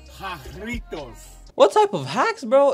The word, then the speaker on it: Jarritos: Doritos. No. Well, no. You don't wanna say it right? It's called Jarritos.